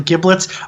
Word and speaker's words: giblets: This is a hard G soft G problem. It depends on what part of the nation you're from. It's the small parts that are from inside of a carcass, like a turkey. You know, you have the giblets or the giblets. That is completely regional. Both are correct.